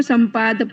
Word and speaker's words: सपाद: कहेंगे और सवा को सपाद कहेंगे सवा को क्या कहेंगे सपाद संपाद पंच संपाद नहीं कह रहे हैं संपाद नहीं कह रहे हैं